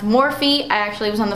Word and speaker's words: Morphe: this one I will continue to get my morphe 1 by the way there's like a bunch of controversy people say that it is pronounced morph and all that stuff but it is actually pronounced more feet I actually was on the phone with customer